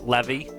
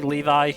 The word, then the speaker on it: Levi: ranked members than uh Levy Levy Levi I never know how to pronounce it I was calling I was calling him Levy from Attack on Titan for so long before somebody finally said Levi.